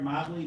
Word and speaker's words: Mobly: My name is Mobly. Mobly rhymes with probably. So probably Mobly. Um nobly Mobly. Probably Mobly spelled the same.